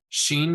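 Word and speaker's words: שין: pronounced as in ball Sheen is pronounced is in shock Tov is pronounced t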